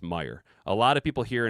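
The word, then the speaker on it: Meijer: Uh, and it's pronounced Meyer. A lot of people here in Michigan will put a S on the on the back of it and call it Meyers.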